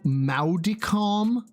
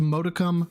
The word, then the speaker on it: modicum: And so Maudicom? He pronounced modicum, Maudicom.